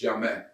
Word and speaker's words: Jammeh: The name Jammeh in Gambia is like Smith. Oh, okay. Or Jones. Yeah. It's actually pronounced Jammeh.